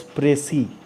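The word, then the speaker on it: précis: the mark above e so this is pronounced as press e PR EC is press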